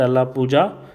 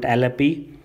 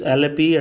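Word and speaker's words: Alleppey: Now those people who are not from Kerala usually pronounced it, especially the North Indian pronounced it Alla Pooja, but I have a lot of Malayali friends, so they call it Alappi. So I hope I am pronouncing it right.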